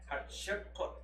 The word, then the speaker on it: Hatshepsut: Okay, her name is spelled H-A-T-S-H-E-P-U-T. Hatshepsut.